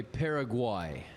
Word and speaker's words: Paraguay: They play Paraguay. Wow. is how you pronounce that.